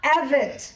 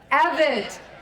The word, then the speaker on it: Evette: How do we pronounce my name? It is. That's right. It's Evit. Can we say it three times? Evit. Evette. Evette.